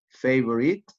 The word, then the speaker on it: favorite: example the world the first is every you pronounce every favorite every different different you can see there is